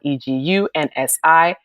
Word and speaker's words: egunsi: look at the internet, people spell egusi EGUSI, but I spell it EGUNSI. And when you actually understand the Yoruba alphabets, it's the N is actually silent, which is egunsi.